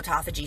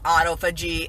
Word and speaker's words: autophagy: And if y'all don't know, I have a whole autophagy series where I was calling it autophagy. It's autophagy is how you pronounce it.